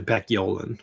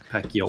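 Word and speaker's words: Paciolan: And that company they use is you want to pronounce that one? I I know it. It's actually Pacquolan. Pacolan.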